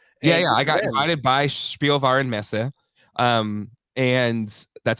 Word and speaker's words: Spielwarenmesse: I got invited by Spielwarenmesse. And that's how you pronounce it, Jay.